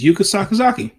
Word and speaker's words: Yuka Sakazaki: It's Yuka Sakazaki. I don't know why I want to pronounce it something else and I've pronounced it 29 times on this channel.